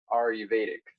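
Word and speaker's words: Ayurvedic: you're familiar with like are you periodic are you eight how you say that are you Vedic that's how you pronounce it yeah right kind of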